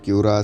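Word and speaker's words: Huayra: کی حیران کن کارکردگی۔ ہوارا جس کا تلفظ کیورا سے ہے، ٹوین ٹربو چارج کے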